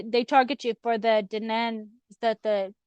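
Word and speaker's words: Dé Danann: So they they target you for the denan. Is that the how do you say how do you say that? The daan. Oh yeah the day da nan.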